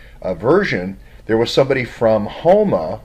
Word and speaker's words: Houma: there was somebody from Houma I was pronouncing it wrong it wasn't humor was Houma and they got married